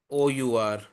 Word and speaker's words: hour: So here we write it as HOUR, but we say R, OUR. We do not we do not we do not pronounce the H. The H is silent.